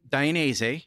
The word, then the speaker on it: Dainese: You've danced around that, but you work for a company, Dainese.